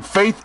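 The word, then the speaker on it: Faeth: Like here in Faith Aircraft in Sacramento, California, that's spelled F-A-E-T-H.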